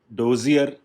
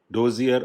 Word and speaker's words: dossier: Last is डोजियर, और इसका exact pronunciation मैंने देखा, that is called डोजिया। आर नहीं बोला जाता, और उस हिसाब से इसकी आउटलाइन भी है, लेकिन हमने तो डोजियर बोला है इसको। इट कैन be pronounced either डोजियर और डोजिया।